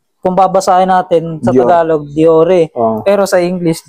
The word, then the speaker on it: Dior: Shimano kung babasahin natin sa tagalog Diore pero sa English Dior talaga yan.